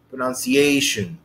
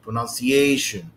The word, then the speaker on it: pronunciation: prominent the most prominent pronunciation a this is a pronunciation pronunciation pronunciation this would be the most prominent i